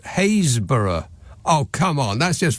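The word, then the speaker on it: Happisburgh: r GH hausburg is hayborough how almost none of the letters in that word are pronounced after H you're on your own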